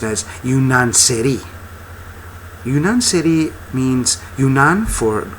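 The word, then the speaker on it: yeniçeri: series is a Turkish word and it's uh pronounced as yaneri yunan CI means yunan for Greek and CI for Soldier so janies or yanari uh is a Greek Soldier now over the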